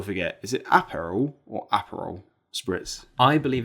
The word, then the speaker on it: Aperol: Is it apparel or Aperol spritz?